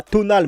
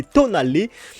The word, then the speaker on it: Tonale: D'ailleurs, ça ne se prononce pas Tonal, mais Tonalé.